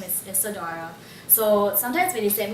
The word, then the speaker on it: Isadora: in an email uh my name is being spelled as i s e d o r a Isadora because that's how I pronounce it but it's actually